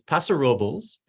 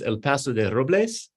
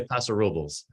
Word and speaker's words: Paso Robles: it almost right it's paso robles though the the full name of the town in like its original spanish is el paso de robles but the locals say paso robles took me years to